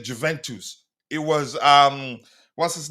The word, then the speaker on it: Juventus: lot of people say Juventus. It was um what's his name? Uh ah the queen of the house a lady here in the chat that taught me it's pronounced Juventus not Juventus and I like it